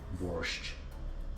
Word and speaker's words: borsch: Next, there is no T, it's borscht, not borscht. There is no reason to add that trailing T. Maybe it's some kind of German pronunciation and everybody else repeats that, but you don't have to, it's just borscht. It's B-O-R-S-C-H.